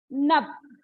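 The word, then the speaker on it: नभ: How to pronounce? Nab.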